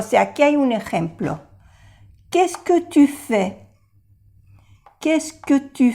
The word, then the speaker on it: qu'est-ce que: No se pronuncia la S y la T. Qu'est-ce que? Qu'est-ce que? Qu'est-ce que? Ni la E aquí.